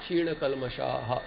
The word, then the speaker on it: क्षीणकल्मषाः: Labante brahma nirvanam rushayaha kshina kalmashaha. So these are very few places where visarga has to be pronounced completely.